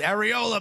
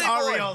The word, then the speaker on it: Arriola: Which, by the way, when he scored, I yelled, "Arriola, baby!" I said the name wrong, and my wife was like, "What the fuck did you just say?" I was like, "No. It's Arriola.